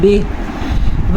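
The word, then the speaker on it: بِهِ: الی الرشد فآمنا بہ نون کا غنہ ادا کیا ہم نے اور بہی کے بجائے وقف کی وجہ سے ہم اسے کیا پڑھیں گے بہ.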